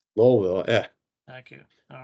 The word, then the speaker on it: Louisville: heard just for fairness somebody else said Louisville I can at least I can at least complain and say it's louville lville yeah thank you all